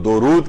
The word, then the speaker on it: درود: تو اصل جو اس کو تلفظ کیا جائے گا وہ درود کیا جائے گا، دال کے اوپر پیش ہے، دال کے اوپر زبر نہیں ہے.